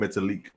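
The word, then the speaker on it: Metalik: know how I know you butchered that first name ow because you just butchered Grand Metallica Grand Mata League metallic metallic yeah sorry that's how it's actually pronounced hey I'm only human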